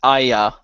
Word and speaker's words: Arya: like yeah especially because arya's name is usually pronounced different depending on who's saying it considering um uh catlyn pretty much anounces it as Aya like there is no R in there so that's always